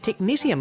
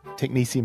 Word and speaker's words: technetium: At the end of the last episode, I said technetium because that's what it looks like when you spell it. Indeed, and I was going to correct you, but I didn't. But seeing as it's the next episode, technetium it is. Even though it's got a T-I-U-M at the end.